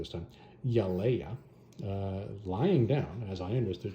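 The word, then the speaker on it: Yelaya: There is, we're going to say it correctly this time, Yaleia, lying down, as I understood she was there, and he has no idea how she's still alive.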